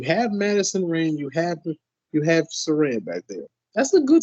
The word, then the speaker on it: Saraya: Maybe Saraya isn't, or Saraya or Saraya. Which one am I saying? Saraya. She corrected us on Twitter. I said it right the time. So yeah, Saraya.